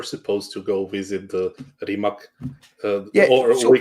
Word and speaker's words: Rimac: So yeah, we were supposed to go visit the Rimac, we call it Rimac, but in English you usually pronounce it Rimac Electric Supercars Factory.